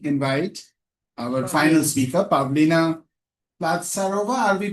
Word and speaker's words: Platsarova: I now quickly invite our final speaker, Pavlina Platsarova. Are we pronouncing your surname correctly? Yes. Forgive us. Yeah, Yes. Platsarova.